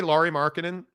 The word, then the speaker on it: Lauri Markkanen: And if you want me to go out of the way to say his name right, I say Lauri Markkanen.